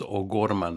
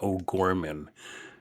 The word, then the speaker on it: O'Gorman: And I should say his name is O'Gorman, not O'Gorman. He was Mexican.